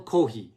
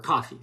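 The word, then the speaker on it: café: uh in in Spanish it's uh triangulo Del kohi or Cofe sorry I said kohi in Japanese when I try to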